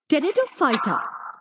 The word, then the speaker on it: Pteridophyta: Division 3rd, Pteridophyta. Plants from this group have well-developed roots, stem, and leaves, and separate tissues for conduction of food and water. Okay हाँ उसमें P silent है.